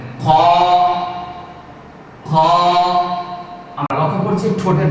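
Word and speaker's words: خ: জানিয়ে দিচ্ছি আটটি হরফ 29 টি হরফের মধ্যে আটটি হরফ উচ্চারণ করার সময় ঠোঁট গোল হবে না মুখটা গোল হবে না সোজা রেখে হা করে ফাঁকা করে উচ্চারণ করতে হবে তার মধ্যে এই হরফটি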